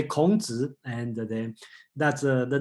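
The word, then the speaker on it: 孔子: And I just look at the chat, okay, and Charles asked me to pronounce how to say Confucius in Chinese. Okay, let's say Kongzi, and then that's the name, just a little bit.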